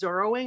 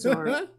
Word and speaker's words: Zoro: the whole problem is while Zoro was Zorro I'm like it's Zoro and he's zing and